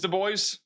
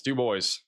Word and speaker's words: DuBois: DuBois? It is DuBois. Where did I get DuBois from? DuBois. Apparently it's DuBois.